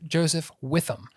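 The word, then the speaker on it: Joseph-Witham: So I now know how to pronounce it. Dr. Heather Joseph Witham is how they say her name.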